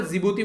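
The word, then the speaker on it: Djibouti: ये एरिट्रिया हो गया, जिबूती हो गया, डी साइलेंट है यहाँ पर, जिबूती बोलते हैं इसको।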